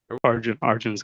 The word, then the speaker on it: Arjun: Is your name correctly pronounced Arjun? Arjun? Arjun's good.